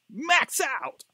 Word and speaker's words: MaxxOut: the band max out max out i think it's a way it should be pronounced uh actually the band